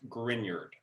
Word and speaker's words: Grignard: and i know it's spelled grignard but it's pronounced grignard and so what happens so what is a